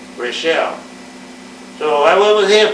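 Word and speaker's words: Raschel: is the last name We spelled it r a s c h e l they pronounced it Rochelle so I went with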